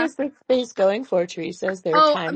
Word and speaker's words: Teresa: So yeah, I mean, Soro, I have no idea how to pronounce your name. I'm sorry. Just like start talking. Hello. Yo, what's good, Teresa?